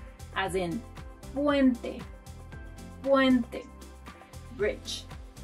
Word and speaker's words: puente: La letra P, letter P, as in puente, puente, bridge. To pronounce this letter like a native, put your hand in front of your mouth and try not to put air like you do in English.